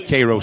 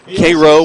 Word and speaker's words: Cairo: were discussing you know Koo we we've heard it's spelled like Cairo but it's not Koo like KIRO syrup but they are the